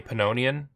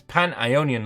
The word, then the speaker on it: Pan-Ionian: be easy to pronounce i keep wanting to say pannonian because you know pannonia right but it's pan-ionian league eligible to any country who